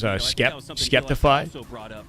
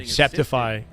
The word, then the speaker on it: Skeptify: I know he pronounces it as Skeptify, but phonetically speaking, Septify is the correct like grammatical pronunciation. You know what I mean? Like it should be Septify.